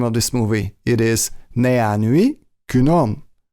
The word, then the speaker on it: 내안의 그놈: this movie it is nee an UE kunam or nanny kunam I think that sometimes Korean people tend to change the sound to an a s sound so it's easier to pronounce so nee an UE